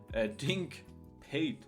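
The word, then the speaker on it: Dink Pate: Dink paid, that's how you say it.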